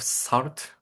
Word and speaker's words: salt: The word salt is pronounced like salt with a soft s sound at the beginning and rhyming with fault.